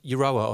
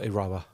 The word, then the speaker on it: Euroa: Is it pronounced Euroa or Iroa? Seriously? Doesn't. Either or. Okay. Either or.